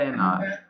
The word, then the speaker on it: hour: H silent होता है, अपन क्या बोले, आई गो फॉर a walk for एन आवर. I go for a walk and 1 hour. For an hour.